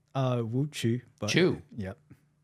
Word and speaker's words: Wu Qu: glad to have Dr Woo Q did I pronounce that correctly uh wo chu but CH yep sounds more like a CH hu CH okay yeah